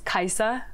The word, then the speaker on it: Kiesza: I've heard several pronunciation the most correct version which nobody says is Caixa there's a Norwegian name but everyone calls me Kaiser there's so many layers